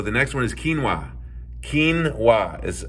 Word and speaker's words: quinoa: Quinoa is how it's pronounced.